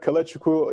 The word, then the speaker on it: Kalechukwu: I'm Kalechukwu, if you can speak Igbo, that's how you say it.